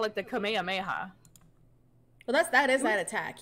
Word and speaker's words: Kamehameha: What is the one where they call it the kamehameha? Well, that is that attack. Yeah, the kam. But when they're saying it on the show, it's Kamehameha. Right.